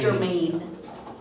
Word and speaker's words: Jermaine: And is his last name pronounced Jermaine? Yes. Okay. Jermaine. Jermaine, just so that we have it correct.